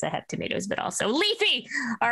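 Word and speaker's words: Leif: I also love that you call him Leafy. I love that. Is it not Leafy? That's how it's pronounced, right? It's just Leaf, like a leaf.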